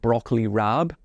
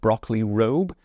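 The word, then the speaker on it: broccoli raab: I always call it broccoli RAB it's spelled r a a b but I believe it's actually pronounced broccoli robe that's an interesting one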